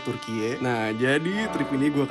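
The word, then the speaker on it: Türkiye: 2022 Turki secara internasional ganti nama jadi turkiie ya dibacanya turkiie Nah jadi trip ini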